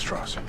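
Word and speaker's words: Strauss: at the head of their first encounter it's pronounced stoss from here Nolan begins to stack slights against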